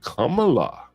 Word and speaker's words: Kamala: they're still making waves about the money that Kamala. You see, Stanley, I pronounced it correct.